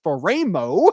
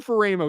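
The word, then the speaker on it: Faraimo: San Juan Capistrano California jerah Catholic linebacker Madden fero is apparently how it's pronounced I think so we I may have called him fer at one point it's fero we're doing the pronunciation thing again Madden fero Sean 6 fo three 230 pounds number 63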